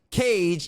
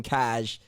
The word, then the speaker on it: Caj: and his name is pronounced cage even though it's spelled caj and i've been calling him cash for the last couple months cage what up man what